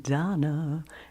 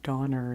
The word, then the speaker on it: Donner: Comet and Cupid and Donna. And instead of saying Donner, he says Donna, is the way he pronounces it.